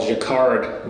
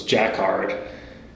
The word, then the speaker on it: Jacquard: They're called Jacquard looms, Jacquard, depending on how you want to pronounce that.